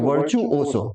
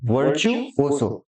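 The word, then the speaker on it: virtuoso: इसका प्रोनाउंसिएशन ध्यान दीजिएगा, वर्चुओसो, वर्चुओसो, ठीक है ना।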